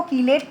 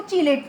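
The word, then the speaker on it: chelate: कुछ लोग उसको कीलेट प्रोनाउंस करते हैं, कुछ लोग उसको चिलेट प्रोनाउंस करते हैं।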